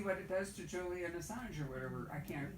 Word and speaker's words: Assange: Let's see what it does to Julian Assange or whatever. I can't. How do you pronounce his Yeah, name?